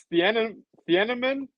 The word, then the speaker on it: Thieneman: I was pronouncing it wrong. It's Thieneman now.